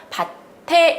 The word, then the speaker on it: 밭에: 막아 일어난 조건이 아니지요 그러니까 바체 이런 주고 발음 하시면 안되구요 밭에 이렇게 발음 마시는 것이 맞습니다 자 그 다음에 비녀를 꽂아